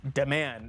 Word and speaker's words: D-Man: Pronounced Deman, as Anna says it.